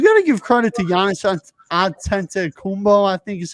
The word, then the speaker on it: Giannis Antetokounmpo: But at the same time, you got to give credit to Giannis Antetokounmpo, I think is how you say it, the Greek freak as I call him.